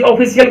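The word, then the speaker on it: official: ये बिल्कुल ही गलत है, ऐसा नहीं बोलना चाहिए। आपको क्या बोलना चाहिए, देखिए CIAL, ये आ गया ना, यहाँ पे सी का उच्चारण क्या निकलेगा, स। तो ये है सल, तो आपको क्या बोलना चाहिए, ऑफिशियल।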